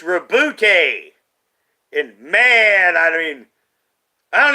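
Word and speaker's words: Roboute: rebuke gilliman you know it should be like robert gilliman but it's reboote and man i mean i don't even know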